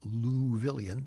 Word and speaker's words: Louisville: and the great fellow luvilion that's the way they pronounce louisville in louisville ron whitehead who was